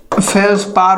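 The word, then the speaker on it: feldspar: ठीक है, डी यहाँ पर साइलेंट हो जाता है, कोई दिक्कत नहीं।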